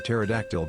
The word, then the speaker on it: pterodactyl: nodding off yeah like can't you hear a pterodactyl go to the bathroom their p is silent all good all